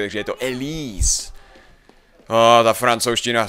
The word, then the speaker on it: Élise: přemejšlel jestli to jej jméno se vyslovuje elies jakože americky ale je to samozřejmě francouzsky Takže je to El ta francouzština V týhle